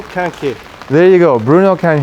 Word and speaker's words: Quinquet: haven't memorized yet bruno how do you say it here axel can say it to the microphone because he is french bruno kanke there you go bruno